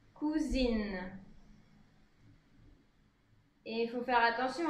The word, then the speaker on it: cousine: Donc attention à la prononciation en général hein, pour cousin masculin ou masculin pluriel et cousine pour féminin ou féminin pluriel. Cousin, cousine.